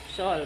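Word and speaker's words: Seoul: samji ini dia buatan Seul ya sol bacanya sol katanya orang Korea Korea ya sol Korea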